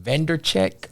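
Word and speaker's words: Vaynerchuk: How you pronounce his last name? Vandercheck.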